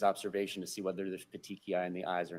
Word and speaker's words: petechiae: But pronounce it slowly and loudly for everybody. Petechiae.